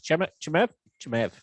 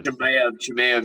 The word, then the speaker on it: Chimaev: How the hell do you pronounce his name? Is Chimev, whatever. Chimaev, yeah.